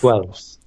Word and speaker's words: Guelph: Guelph? Guelph. It's Guelph? So you pronounce the GU and then Elf.